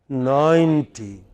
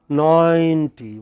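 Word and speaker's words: ninety: And the other word is 90. It is a long, 90. What is it?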